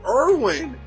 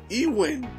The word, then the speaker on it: Erwin: Even Erwin. Why are they calling him Ewin?